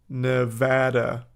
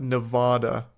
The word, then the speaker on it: Nevada: as a Nevada resident it's pronounced Nevada not Nevada n you don't what